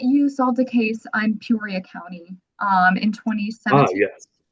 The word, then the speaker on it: Peoria: Um, and it is pronounced Peoria, right?